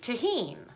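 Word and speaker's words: Tajín: You are to rim your glass with tahine, which is T-A-J-I-N, tahine. What is it? Tahine. Spell it.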